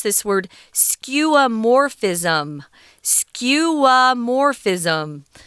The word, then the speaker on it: skeuomorphism: pronounce this word skeuomorphis skewamorphism so the zhongine is on the morph skeuomorphism okay here we